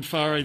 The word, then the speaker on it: Whare: They all get it wrong, except the commentators in New Zealand. So it's, pronounced Whare.